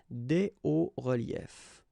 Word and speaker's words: hauts reliefs: And if we want to put the plural form, then it's quite simple, because S and S, but then we don't pronounce them here. Des hauts reliefs.